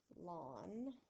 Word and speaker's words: ln: says ln of x so i'm going to say it like the word lawn and what it actually